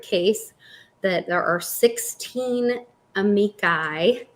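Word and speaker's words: amici: that there are 16 amikai is how you say it um that are being entered in to say like Amicus amikai octopus octopi yes fungus fungi yes um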